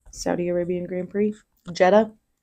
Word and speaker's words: Jeddah: Jeddah. Like Volkswagen? DDAH. But pronounced like the Volkswagen Jetta.